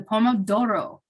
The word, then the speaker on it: Pomodoro: strategy number two the poem of Doro technique you have to say it like in Italian because that's the Pomodoro is the Italian word for tomato apparently which I also